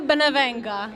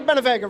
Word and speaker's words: Benevenga: Familia Benevenga. Oh, I forgot the familia, right? Yeah. But did I say the Benevega right? No. I'm still saying it wrong, right?